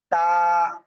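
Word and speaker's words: ت: সামনের উপরে দুই লাগান সিম্পলভাবে উচ্চারণ করতে তা এক আলিফ টান হবে তা প্লিজ সবাই একসাথে আনমিউট হয়ে জোরে জোরে বলেন তো এই অক্ষরটা ক্লিয়ার।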